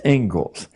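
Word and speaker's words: Inglis: is the ingalls lecture looks like english but it's pronounced ingalls and i would like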